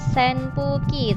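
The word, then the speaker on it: 扇風機: kipas angin senpuuki senpuuki tulisannya SNP uuki senpuuki tapi dibacanya same fuqi Hai karena n ketemu p maka menjadi jadi same putih telepon itu dan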